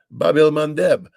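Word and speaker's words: Bab el-Mandeb: the Bab el Mandeb.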